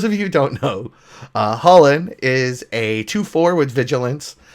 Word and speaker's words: Chulane: I know, it's pronounced Holland, but I'm a hick, so I'm going to say Chulane.